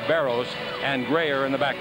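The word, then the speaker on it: Barros: and baros and uh it's actually pronounced baros and grayer in the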